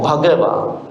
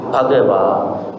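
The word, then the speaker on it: Bhagavā: So the only thing was that the H part, you have to make a what do you call, an emphasis, not Bhagava, as I said earlier, Ekang Samayang Bhagava.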